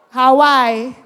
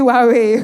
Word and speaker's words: Huawei: Hawaii. Hawaii. Really? If you call that Hawaii, how would you call H A W A I? What you're pronouncing as Hawaii? H U A A Wii is actually Wawe.